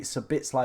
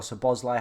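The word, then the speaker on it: Szoboszlai: Scott McTominay, Sabitslai or Sabozlai, however you want to pronounce it.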